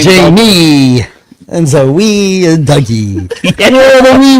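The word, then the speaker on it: Zoë: Zoe or is it pronounced Zoe? It's Zoe. That's why the umlauts are there. They give it the correction of the E.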